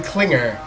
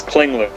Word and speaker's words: Kingler: in the call is Clinger I did I pronounce that right it's it's Kingler oh Kingler missing out